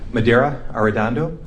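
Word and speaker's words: Medaria Arradondo: Madera Ardando. First name is spelled M E D A R I A.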